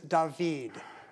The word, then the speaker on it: David: He's French, so say his name like that of singing actor Diggs. Stan. What is Tay? No. Matter, Emmy? There is another singing Diggs. This is David.